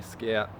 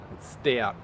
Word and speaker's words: Stout: comments sorry St out I've been calling you Scout Stout Stout archery check them out go check Stout archery out cuz I've been saying it wrong sorry buddy um okay